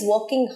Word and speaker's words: working: বলো এবার, she is working hard for the exam. আচ্ছা, working নয়, রটা সাইলেন্ট, working.